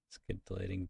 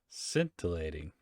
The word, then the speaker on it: scintillating: conversation wasn't all that scintillating skin what the skin deleting definition sparkling or shining brightly okay now we do scintillating okay that's how you pronounce it uh this jacket dude something's up